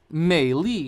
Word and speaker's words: Meili: By the way, Meili is how you say her name in Mandarin.